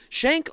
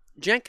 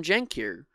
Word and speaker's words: Cenk: garbage um and uh shank responded uh shank I I pronounced his name wrong a lot that's just something on me um please correct me in the comments every time I do uh jenk said Emma I see